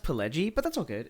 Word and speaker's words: Pileggi: Yeah, but yeah, my I don't want to call you an uncultured American, but it's actually pronounced Pileggi.